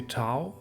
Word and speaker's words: Tao: So I actually released a new translation of the Tao Te Ching. I say Tao, others pronounce it as Tao, all is okay.